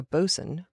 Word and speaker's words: boatswain: on but the the basic upshot is a bosun or a boatswain spelled Bo 80 waa I n but not usually pronounced that way is literally the boat servant